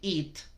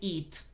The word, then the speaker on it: it: Así es como se pronuncia it. Ese pronombre que se refiere a un objeto, un animal o una situación, una sola, se pronuncia it. It. No it. It. Como en la palabra bitch.